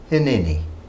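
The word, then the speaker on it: הִנֵּנִי: words in the Hebrew it is one word and it's pronounced hini he is saying behold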